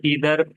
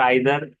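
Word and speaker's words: either: American में नीदर कहते हैं और ब्रिटिश में नाइदर, और ईदर अमेरिकन में और आइदर ब्रिटिश में।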